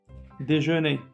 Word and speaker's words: déjeuner: Déjeuner, Déjeuner. très bien, on n'a pas prononcé R.